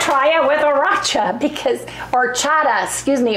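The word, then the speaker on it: horchata: it with aracha because orchata excuse me orchata it's h o r c h t a the H is silent or Chata or Chata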